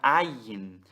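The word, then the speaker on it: אַיִן: Então, essa palavra, ela é o Aleph, que tem som mudo, mais o Patar, que tem som de A, mais o Iod, com o Hira, que vai ter um som único de I, mais o Nun sofit, que é o N.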